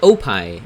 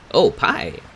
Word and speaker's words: OPie: It's called Opie. I'll spell it for you. O-P-I-E, just like the dessert. Oh, pie.